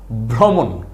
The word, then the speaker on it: ভ্রমণ: সেটাই হচ্ছে কি ভ্রমণ তাইলে ভ রফল ভ্র মূর্ধন্য ন কি হবে ভ্রমণ ভ্রমণ মানে কি এক জায়গা